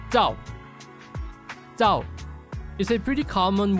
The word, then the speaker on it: Zhao: So in Chinese, it's pronounced as Zhao.